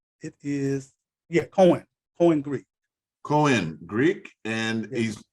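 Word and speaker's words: Koine: How is that pronounced? Koan? It is, Koan Greek.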